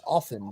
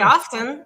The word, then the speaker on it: often: I pronounce correctly it's often the t is silent unless you say often and then it's correct